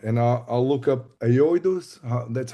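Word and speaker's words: Aoidos: So I'll check them out and I I'll look up Aoidus.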